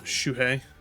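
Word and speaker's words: Shūhei: inflict so much damage Shu I think it's shui you pronounce it hisagi oh boy that's RI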